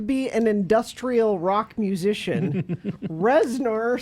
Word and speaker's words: Reznor: an industrial rock musician Reznor sounds like a made-up oh is that how you say it I always thought it was reasonable and he is 54:54